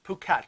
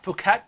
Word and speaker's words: Phuket: Now, is it pronounced Phuket. Phuket? Yes, Phuket. The H is silent. This is big on my... Yeah, Phuket, Thailand, and we have never been.